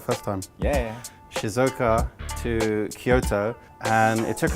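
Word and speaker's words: Shizuoka: journey on the very very fast train from Shizuka Shizuka Shizuka Shizuka so I said it right first time yeah Shizuka to Kyoto and it took us about an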